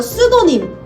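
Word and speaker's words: pseudonym: 볼 수 있습니다 자이 가명이라는 단어는 앞에 피가 붙는데 이거는 묵음이거든요 다 같이 읽어 볼게요 스도님 수도님네 감염 필명이라고 할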